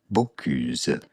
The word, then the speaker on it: Bocuse: One of the latest contributors is Chef Paul, Bocuse? Bonjour, we are looking at how to pronounce the name of this famous French chef, Paul Bocuse.